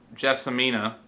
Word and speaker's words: Gelsomina: She's also the real life wife of Federico Fellini, and she plays Gelsomina, that's how you pronounce it.